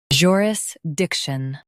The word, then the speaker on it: jurisdiction: uh ris dic shun In US, stress dic. In UK, stress joo. It's about legal authority. jurisdiction joo uh ris dic